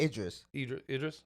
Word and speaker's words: Idris: Damon Iris, that's his name, right? Damien Iris? Idris.